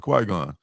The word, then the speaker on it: Qui-Gon: It's right, just like it's spelled, Qui-Gon.